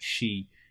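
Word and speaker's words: Xi: see how you I didn't know that X I it pronounced like she in think it's Chinese okay you know my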